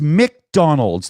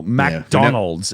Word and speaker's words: McDonald's: have M littley and you don't say mac you say Mick right it's it's McDonald's there's no a between the m and the C you all don't know